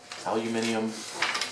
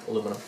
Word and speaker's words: aluminium: where i need some aluminium angle just kidding aluminum all right if you're british you'll say hey he pronounced that correctly see it did a